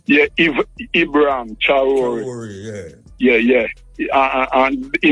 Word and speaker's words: Traoré: Can you please pronounce his last name, Muta, the South African president? Traoré name. Yeah, Ibrahim Traoré.